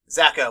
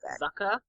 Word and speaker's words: Zuko: Zako, or whatever his name is. It's actually pronounced Zucka.